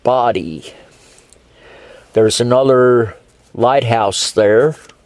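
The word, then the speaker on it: Bodie: north there's bodhi island b-o-d-i-e which is pronounced body there's another lighthouse there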